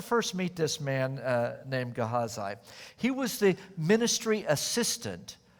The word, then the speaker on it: Gehazi: Different people pronounce these Old Testament names differently, but I think the best pronunciation is Gehazi.